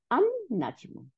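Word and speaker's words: النجم: Become, এটা হয়ে গেল আন নাজমু। হ্যাঁ, আন, লামটা কিন্তু আর উচ্চারণ হইল না, তো লামটা গিয়ে কি হলো, নুনের সাথে যোগ হয়ে গেল, তাহলে আন নাজমু।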